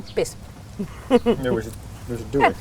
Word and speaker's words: kippis: So, how do you say cheers in Finnish? Could you please tell? We say kippis.